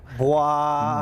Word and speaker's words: BWAAA: Bwaaa. Bwaaa. Bwaaa. Yeah, something like that. The Yes. noise that Hank Hill makes, so it's like an onomatopoeia.